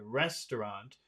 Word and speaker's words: restaurant: Which syllable in that word restaurant has all of the Rest. power? Res. Rest to rest. Rest. Yeah. Restaurant. Rest. Restaurant. Rest.